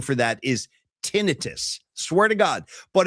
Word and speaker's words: tinnitus: Technically, the proper pronunciation for that is tinnitus. Swear to God, but it's mispronounced so often that people just accept tinnitus.